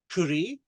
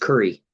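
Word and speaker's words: Currie: Ah, I think it's just curry, like you Curry? eat curry.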